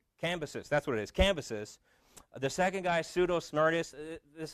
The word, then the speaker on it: Cambyses: I forget how to pronounce his name. Cambyses. That's what it is. Cambyses.